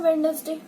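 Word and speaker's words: Wednesday: एक वीक मतलब एक डे का नाम है वेडनेसडे, बट इट इज D silent होता है।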